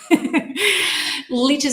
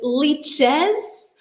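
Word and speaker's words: lychees: Leeches is also a kind of fruit. Ah, those are lies, I think. I don't know how to spell it. Um, but you're right. But liches like peaches, that's the animal in lies.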